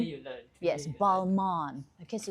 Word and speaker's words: Balmain: How do you pronounce the toiletries, Khairil? A Balmain? Balmain? Balmain? Balmain.